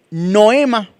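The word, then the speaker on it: νόημα: Y esta palabra se escribe noema con acento en la o se traduce percepción, propósito, intelecto, disposición en sí mismo.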